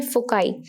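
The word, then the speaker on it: foci: तो आपको पता होगा, इसे हम बोलते हैं फोकाई, यानी कि प्लूरल ऑफ फोकस। एक हो तो फोकस, दो हैं तो फोकाई, ठीक है। और कई बार इसको प्रोनाउंस फोसाई भी किया जाता है, तो कई मैथमेटिशियंस इसको फोसाई कहते हैं, कई फोकाई कहते हैं।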